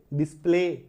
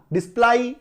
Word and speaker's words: display: डिस्प्ले दिखाना, DAY last में AY आ रहा है, डे, है ना। वाई है तो क्या पढ़ सकते? तो वाई का उच्चारण य भी आता है, आई भी आता है ना। डाई नहीं पढ़ते ना, डिस्प्लाई नहीं पढ़ते ना, STRAY स्ट्रे, स्ट्रे